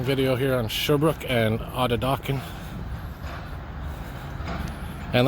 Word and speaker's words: Atateken: here on Sherbrooke and Atateken. And like I said, I know it's pronounced, it says T on it, there's T's in the name, but it's actually pronounced as a D as in David.